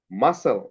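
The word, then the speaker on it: muscle: মাসল, এই যে এস এর পরে সি আছে, সিটা সাইলেন্ট হয়ে গেছে।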